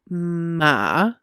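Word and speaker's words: Maat: okay so i did ma the t is silent spelled m-a-a-t uh which refers to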